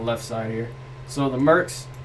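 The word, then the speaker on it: Murks: but it's also like pronounced like merc like the short term for mercenaries it's it's creative okay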